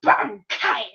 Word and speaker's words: Bankai: He said Bankai. Can you repeat what you just said? And if he says it like Mayuri, which he really enunciates the syllables like Bon and Kai, like Bankai.